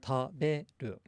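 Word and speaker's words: 食べる: And we said that it's low, high, low. Low, high, low. Taberu.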